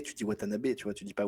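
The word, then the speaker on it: Watanabe: En japonais il y a pas d'accent genre Ken watanabé tu dis watanabé tu vois tu dis pas Watanab.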